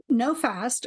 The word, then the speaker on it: NOFASD: NoFast, or NOFASD, is one, and the other is FASD Hub.